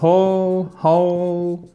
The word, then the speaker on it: whole: Donc, the whole family, pas whole, surtout pas le W ne se prononce pas. On l'écrit mais on ne le prononce pas.